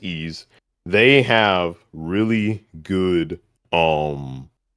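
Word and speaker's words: Ys: Uh, the East series um it's just spelled uh with a Y and S and pronounced E.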